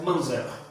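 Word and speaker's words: Munzer: Depois você procura saber quem foi Andreas Manzer. Você escreve lá Andreas, M-U-N-Z-E-R, Manzer, pronuncia Manzer.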